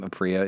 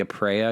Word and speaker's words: Aprea: Like the way my family pronounces their last name, Apria, is not the Italian pronunciation. So, you know, and we don't do like. It should be Aprea because the first vowel is supposed to do the one that does all the work. In Italian.